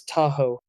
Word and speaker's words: Tahoe: Understand that Tahoe is pronounced as Tahoe. Step 2. Break it into two parts. Ta, like ta in taco, and ho, like go.